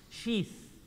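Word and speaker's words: شيث: Sheath. Say it properly for me. Bring your tongue out, everyone. Sheath.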